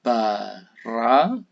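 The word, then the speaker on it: ברא: Misalkan kata yang pertama ini bacanya bara. Jadi suku kata pertama itu bit dan kametz, ya, ba. Suku kata kedua resh, kametz, dan alef, ra. Ini suku kata terbuka karena terdiri konsonan dan vokal. Sedangkan Yang berikutnya suku kata tertutup, ya konsonan, vokal, konsonan. Bara.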